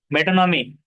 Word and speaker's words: metonymy: मेटोनॉमी, we will swear loyalty to the crown. तो मेटोनॉमी इस तरह देखो, प्रोनाउंसिएशन कैसा है, मेटोनॉमी।